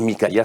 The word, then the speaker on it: Mykaïa: Et Mikaïa, ça s'écrit M-Y-K-A-I-A, pour ceux qui voudraient savoir.